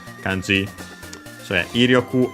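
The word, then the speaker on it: 威力: So yeah, Iryoku, accent on the first more, so it's one of those with the second most common accent for those.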